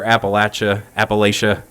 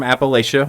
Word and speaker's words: Appalachia: Kentucky and all over Appalachia. I know that there's some contention over how that's pronounced these days, but rest assured I am from Appalachia, or Appalachia, however you choose to pronounce it.